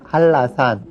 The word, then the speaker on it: 한라산: 그래서 한나산이라고 쓰지만 발음할 때는 한라산 이렇게 발음을 하고요.